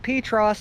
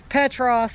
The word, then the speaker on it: Petros: from the middle of Petros, Tennessee. Or, for some people, Petros. It kind of depends on where you're from and where they will tell you how it's properly pronounced.